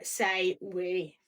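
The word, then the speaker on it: Say Oui: From Say We. Mm-hmm. Say We. So it's spelled Say O-U-I. Yeah.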